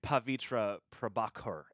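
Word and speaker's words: Pavitr Prabhakar: is setting us straight pavitra prabhakar is the Indian pronunciation shut up John shut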